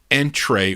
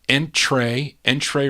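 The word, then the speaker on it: Entrée: It has the accent over the E. I think that's pronounced A. Entree Records.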